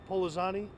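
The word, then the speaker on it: Pollozani: Can you say your last name again, please, and spell it? Sure. Polizani, P-O-L-L-O-Z-A-N-I.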